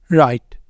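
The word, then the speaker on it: write: शुरू हो रहा है डब्लू आर से यहां पर डब्लू होगा साइलेंट ये है रंग राइट रप रिस्ट ठीक है रप रिस्ट रोट तो इन सबके अंदर क्या है डब्लू है साइलेंट डब्लू आर के साथ वर्ड शुरू हो रहा है तो डब्लू रहेगा साइलेंट उसके बाद आ जाता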